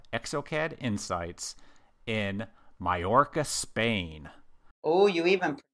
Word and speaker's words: Mallorca: But this time, the good people at ExoCAD are holding their amazing conference that they call ExoCAD Insights in Mallorca, Spain. Oh, you even pronounced that correctly.